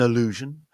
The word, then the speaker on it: allusion: of those words where the A at the beginning is a syllable in its own right, and that A will be pronounced with a schwa sound, and the rest of the word is illusion, illusion, yeah?